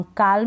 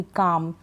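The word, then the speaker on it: calm: बाल्म नहीं पढ़ेंगे, बाम, काल्म नहीं पढ़ेंगे, इसको भी काम, पाम। इन सारी स्पेलिंग्स में हम एल को प्रोनाउंस नहीं कर रहे हैं, एल को नहीं पढ़ रहे हैं, क्योंकि एल इसमें साइलेंट है।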